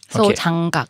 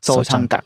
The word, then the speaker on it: Sojanggak: คุณซองเนี่ยก็คือเป็น graphic designer แล้วก็ทำหนังสือเรียกว่าสำนักพิมพ์ ที่ชื่อว่าโซจองกัก Sojanggak. Sojanggak. Okay. Am I right? My pronunciation.